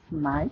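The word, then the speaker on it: knight: এক্ষেত্রে মনে রাখতে হবে কে এর উচ্চারণটা হবে না বা অনুচ্চারিত থাকবে। যেমন উদাহরণস্বরূপ আমি তিনটি উদাহরণ দিয়ে দিয়েছি, নলেজ, নাইট এবং নি।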